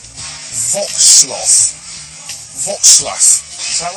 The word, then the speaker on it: Wrocław: Well, welcome to Wrocław.